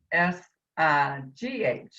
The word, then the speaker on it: Sayegh: Now, I know your name is Cy, but it's not spelled that way. Could you spell it out for us too? On the ballot is, B like in boy, Cy, S like Sam, Aygh, and it's Okay. pronounced Sigh.